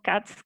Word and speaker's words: Kac: su su nombre entonces puede que diga indistintamente c o cats que es como de verdad se pronuncia pero me cuesta entonces